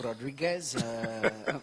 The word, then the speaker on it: Rodríguez: Could you give me the proper pronunciation of that? Mi nombre es Señor Rodríguez.